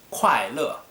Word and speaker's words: 快乐: So if you want to say happy in Chinese, that is 快乐, ku ai, 快, fourth tone, le, fourth tone.